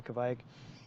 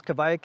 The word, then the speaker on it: kveik: of have this lazy if they're speaking really quickly they might lazily pronounce the v and it sounds like a w so they'll say like